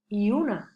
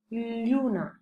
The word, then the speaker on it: lluna: Per exemple, la paraula lluna es pronuncia erròniament lluna, quan s'hauria de pronunciar lluna.